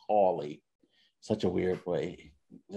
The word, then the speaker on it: Hawley: representative josh hawley uh i wanted to say harley but it's hawley such a weird way